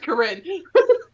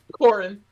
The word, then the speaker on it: Corin: Yeah, me with Corinne. Corin. I keep saying Corinne, but it's Corin.